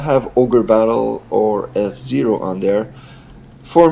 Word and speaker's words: Ogre Battle: and I also put Org Battle 64. I don't know if you've ever played that. It's a person of Lordy caliber. Isn't it pronounced Ogre Battle? Yes, it is. So yeah, Ogre Battle 64.